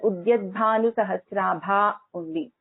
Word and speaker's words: उद्यद्भानुसहस्राभा: But actually the name has to be pronounced together. So it has to be pronounced as Udyadbhanu Sahasrabha only.